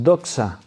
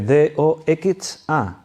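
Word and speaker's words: δόξα: Cuando dice y toda la gloria de ellos, la palabra gloria en el griego es doxa. Se escribe D-O-X-A, doxa.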